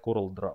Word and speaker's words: CorelDRAW: говорим что это за жигалко но давайте будем говорить правильно поэтому в данном случае я буду называть coreldraw и corel draw тут нету дров это раз